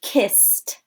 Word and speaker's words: kissed: jumped jumped asked asked some other examples kissed we don't we don't need our vocal cords to say that sound so it's going to be soft and the the base word ending is soft so our ed ending